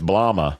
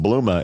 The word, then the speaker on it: Blooma: It looks like it's Blomma, but it's pronounced Blooma in their explainer videos.